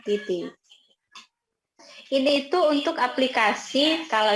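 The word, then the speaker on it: 滴滴: Oke, ini bacanya Titi. Tulisannya Didi ya, tapi bacanya Titi.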